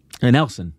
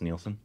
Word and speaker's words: Nelson: again yeah I love is it Nelson or neelon Nelson it's you're sure it's Nelson it's any LS yeah it can't be pronounced neelson I don't know why it would be no You' put an i in there for it to be neelson or another E Nelson okay yeah uh he